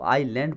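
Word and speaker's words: island: तो आपने कहा ठीक है, इसका साउंड है आइसलैंड, आइलैंड, हालांकि इसको आइलैंड पढ़ते हैं, ठीक है ना। इसमें भी आइलैंड, एस साइलेंट होता है, आइलैंड, ठीक है।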